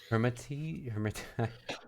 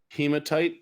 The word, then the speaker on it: hematite: And I have smoky quartz and hermati. I don't know how to pronounce that. Hematite, it's a red gem. Oh, there's no R there.